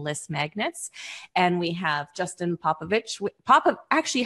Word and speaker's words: Popovic: Because There's an invisible H. I thought that I had heard someone say it and they don't pronounce the C like that. I'm like, but that's how it's supposed to be pronounced.